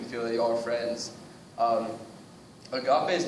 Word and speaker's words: agape: And this one, I'm sure I'm pronouncing this right. It's agape.